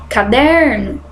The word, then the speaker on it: caderno: Caderno, olha bem, o que vocês pronunciam com mais força? Caderno é a segunda sílaba aqui, né? A penúltima sílaba, aliás, porque a gente tem que contar sempre de trás para frente.